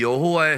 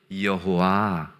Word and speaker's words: 여호와: 아도나이에서 아오아이 이것을이 하나님의 신명인 알파벳 요드헤 마브해 이것이 영어 알파벳로 뭐라 그랬죠? Yh라 그랬잖아요. 거기에이 아오이라는 모음을 갖다 붙이면 대충 발음이 여호와 이렇게 되는 거예요.